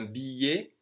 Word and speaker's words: billet: C'est un billet. ET is like ER or E accent aigu, it's pronounced E.